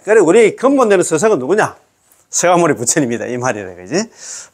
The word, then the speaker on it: 석가모니: 서가모니 부처님이다이 말이래 그지? 자 3. 우리의 본사 스가모니 부처님. 자, 석가모니불 이렇게 석가모니불 석가모니 이렇게 돼 있지만 또 발음은 서가모니라고 하고 추근 끝에 나무 서가모니 불을 놓아는 우리의 본사를 찾는다.